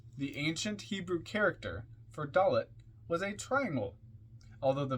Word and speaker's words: Daleth: death comment on doet dollet d a l e t h pronounced doth transcribed as D the